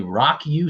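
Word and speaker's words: Rawk U: Tuesday with my buddy Dan Cullen from the Rock U School of Music. Rock U is spelled R-A-W-K space U.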